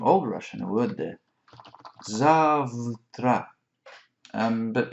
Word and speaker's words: завтра: Russian, a word there, завтра, but actually pronounced a little bit differently, завтра, завтра. And when you break that up, you can actually hear за утро, завтра, завтра.